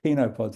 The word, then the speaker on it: chenopods: So the 5 species are grasses, brassicas, cereals, legumes, and very importantly, just 1% of the blend, chenopods or chenopods, it's actually pronounced, which is just a small group of plants that includes everything from the beet family, amaranth, quinoa, and spinach.